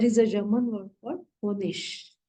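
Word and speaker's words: Honig: a German word for honish h o n g honish whenever IG comes at the end of the word it is pronounced as sh so it will be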